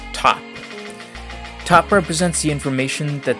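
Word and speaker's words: ⊤: Just for kicks, let's represent this I don't know value with this T, pronounced top.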